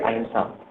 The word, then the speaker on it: अहिंसा: बात की जाती है अहिंसा। इसको अहिंसा भी पढ़ा जाता है और अहिंसा भी पढ़ा जाता है। प्रोनाउंसिएशन ना का जो बिंदी का है वो ना और माँ दोनों आते हैं।